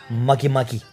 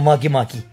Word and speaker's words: Makemake: like but it's pronounced makimaki like monkey monkey but no n so makimaki and but it smells